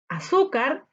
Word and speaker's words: azúcar: Azúcar. Azúcar. ¿Dónde se carga la voz? En su. Muy bien. Escuchemos. A-car. A-car. Esas son sílabas átonas. Sin embargo, en su elevamos un poquito la voz.